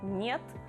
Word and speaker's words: нет: The first sound is N, which looks like H, and you actually pronounce it often like H as well, but it should be N.